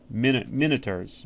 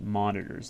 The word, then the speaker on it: Minotaurs: I I minotaurs. Minotaurs is actually how you pronounce I I know I always pronounce that monitors like a computer monitor.